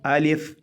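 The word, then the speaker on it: ألف: आ लिफ़, हमज़ा ज़बर आ, लाम फ़ा लिफ़, अलिफ़ अलिफ़ अलिफ़।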